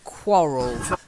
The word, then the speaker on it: quarrel: let's just confirm it's quarrel to quarrel to argue okay Laurel meaning not kwarrel quoi I can off sound quarrel like hoorah that's better yes argue